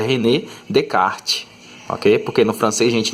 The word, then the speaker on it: René Descartes: matemático francês certo e tem o nome assim que parece que é fácil de pronunciar né tipo rené descartes né mas se não pode pronunciada dinheiro porque esse nome aqui é o nome francês e você tem que vou mostrar esse nome como se tivesse falando em francês tá então aqui a pronúncia correta e renner de kart ok porque não francesa